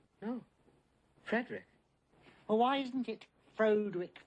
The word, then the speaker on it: Frederick: Frankenstein you're putting me on yeah it's pronounced Frankenstein do you also say Frode Rick No Frederick why isn't it Frode with Frankenstein it isn't